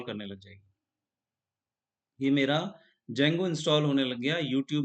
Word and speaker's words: Django: जेंगो जेंगो की spelling है जे से नहीं है डी से है डी जे ए एन जी ओ यहां पर डी साइलेंट हो जाता है तो आपको लिखना है